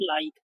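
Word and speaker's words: like: पहले देखिए क्या है, एल आई के, इसको क्या पढ़ेंगे हम, लाइक, लेकिन लास्ट में ई आया ना तो साइलेंट है, तो इसको क्या पढ़ेंगे, लाइक, give, बाइक, rice, make, लाइफ, इस प्रकार, ठीक है।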